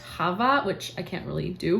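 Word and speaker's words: Chava: think it's actually pronounced Hava which I can't really do but it's like the Jewish pronunciation it has the strong throaty sound to it and then we have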